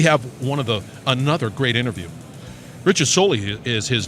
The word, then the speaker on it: Soley: Rhymes with Foley.